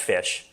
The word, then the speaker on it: ghoti: So basically the meme is, how do you pronounce GHOTI? Okay. It's pronounced fish.